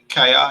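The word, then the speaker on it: Kjær: Kaya is how you pronounce it.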